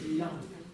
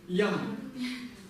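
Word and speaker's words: དབྱངས: Как это читается? Ям. Ям. В каком тоне? Высоком. Ям.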